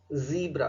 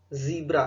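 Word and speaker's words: zebra: यहाँ पे लिखा हुआ है स, सिक, सीरीन, सिल्क, ज, जील, जू, जीब्रा। ध्यान दीजिए इसका प्रोनाउंसिएशन जीब्रा है, जिब्रा गलत होता है, जीब्रा है।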